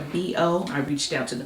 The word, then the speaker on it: BIYO: That is pronounced a B-O.